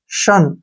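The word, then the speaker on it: shun: ठीक है ना और यू का उच्चारण अ के रूप में हो गया श ठीक है ना औरन काण न शन क्या प इसको शन शन मींस होता है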